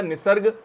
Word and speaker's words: निसर्ग: तो इसको कैसे प्रोनाउंस किया जाएगा? निसर्ग, ये हम कह सकते हैं बांग्ला शब्द है। और ख़ास तौर पर अगर हम संस्कृत की बात करें तो संस्कृत का भी शब्द है निसर्ग।